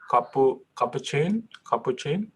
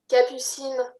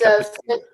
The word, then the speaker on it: Capucine: Capuchin? How do you say your name? I'm sorry. Hi, Hi. Capucine. It's Capucine. it's a French name.